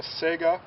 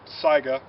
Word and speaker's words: Saiga: we're in a semi-automatic this happens to be a sega um or saiga depending on how you pronounce it it's based off of